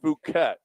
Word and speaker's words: Phuket: It's Fuket.